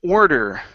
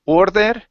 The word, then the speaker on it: order: go to the word order okay so watch your watch your tongue here instead of saying or that okay order order order okay one more time